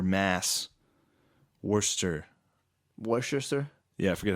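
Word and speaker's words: Worcester: Um, March 21st in Worchester, Mass. Worster.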